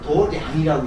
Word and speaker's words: 도량: 요 불교에서는 요걸 도량이라고 읽습니다.